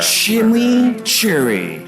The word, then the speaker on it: chimichurri: camp it's back introducing Wendy's new chimichurri cheeseburger shimmy Cherry that's how you pronounce it let it roll off your tongue